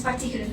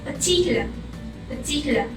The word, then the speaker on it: particular: People usually pronounce them as particular, especially we Malaysian. But the right pronunciation is particular.